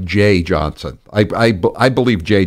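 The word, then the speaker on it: Jeh Johnson: like to say it Jeff Johnson it's I think it's pronounced Jay that's the way I've always heard it pronounced anyway I Pro I uh I like Jay Johnson I I I believe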